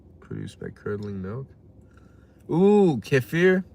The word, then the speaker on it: kefir: Kefir, dishonorable criminals. It's kefir. Well, in Turkish, it's Kefir. That's how you spell it.